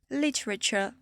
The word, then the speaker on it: literature: Le TURE, comme culture, architecture, literature. Ça se prononce ch, comme si vous aviez carrément un TCH à la fin.